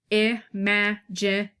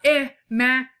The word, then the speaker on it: imagination: Okay, so the word imagination is pronounced with stresses on the second and fourth syllables. So there are, let's do them, imagination.